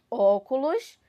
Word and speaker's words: óculos: essa palavra aqui óculos óculos vai acento agudo tá óculos olhem como são sai bem aberto da minha boca né isso óculos sílaba